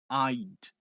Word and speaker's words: I'd: ID. Repare que o d é que encerra a palavra, não tá escrito aqui id, que muitos brasileiros fazem.